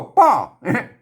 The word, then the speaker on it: ป้อ: เมื่อ นะ เมื่อ เมื่อ ป้อ ป้อ อัน นี้ อ่าน ว่า ป่อ ไม่ ใช่ พ่อ นะ ครับ เออ เ ๆ ๆ อัน